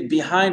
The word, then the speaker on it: behind: dit, s'il vous plaît, behind, le E ne se prononce pas. Non, Farida, il ne se prononce pas. Behind, behind. D'accord? Behind. Ça, c'est vraiment l'accent américain. L'accent anglais, je douterais, mais je sais que l'accent américain, c'est behind. Behind me, d'accord? Et Farida, vous mettez l'accent tonique sur le hind, parfait?